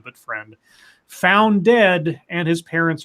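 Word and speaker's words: Freund: AJ friend I found out that's how you pronounce his last name not frying but friend found dead and his parents are charged with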